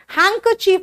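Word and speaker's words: handkerchief: में, हैंकर चीफ, लेकिन लिखते हैं हैंड कर चीफ, देख रहे हो बीच में अगर डी आता है बेटा वो सॉफ्ट हो जाता है, हैंकर चीफ।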